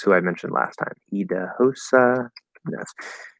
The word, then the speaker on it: Idahosa: Idahosa Ness. Spelled Idahosa, but it's pronounced Idausa.